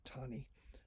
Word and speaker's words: Taney: was roger b taney looks like taney pronounced tawny of maryland 20 years